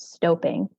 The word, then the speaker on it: stoping: it before what is stoping and it might be I assume it's not stopping but I you you are correct it is uh the proper pronunciation is stoping so stooping is the